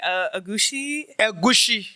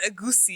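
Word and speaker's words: egusi: Yeah, I have the way you pronounce it is funny. Agushi. Yeah, we say agusi.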